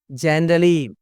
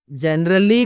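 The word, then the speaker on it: generally: జనరలీ, జనరల్లీ కాదు, జనరలీ, జనరలీ, జనరలీ, జనరలీ, సాధారణంగా.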